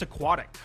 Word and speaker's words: Aquatic: It's Aquatic. So it's like aqua, like water.